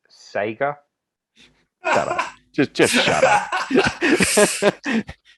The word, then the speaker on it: Sega: And once I had the Mega Drive, it's pronounced Sega.